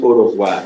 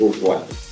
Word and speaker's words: au revoir: So people call it au revoir, no, it's au revoir.